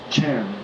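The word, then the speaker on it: 禅: It was pronounced Chan.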